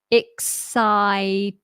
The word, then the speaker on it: excited: excited I'm excited excited excited notice the Ed ided not excited excited I'm excited what are